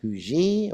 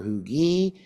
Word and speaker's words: Huger: Of course, the Department of Norfolk is commanded by Benjamin Huger, or Hugy. Depends on which side of Charleston you are. It's spelled Hugger, by the way, so I learned that a long time ago.